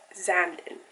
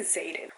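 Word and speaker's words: Xaden: have been like oh this guy's name is zandin which is why I pronounce it as Sam and I was like oh the name zanden is a little bit hard to pronounce like why is his name and then it isn't until like 50 of the book that I realized his name is actually Zayden which makes so much more sense and I don't know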